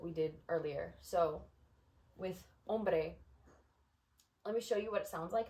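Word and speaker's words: hombre: there's no accent mark this syllable is accented and I'm going to show you what it sounds like when it's when the other one is this is first how it's supposed to be sounded ombre om if accent second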